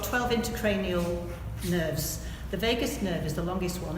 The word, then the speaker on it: vagus: into cranial nerves the vagus nerve is the longest one and it sounds like Las Vegas but it's spelled slightly different and it's fast as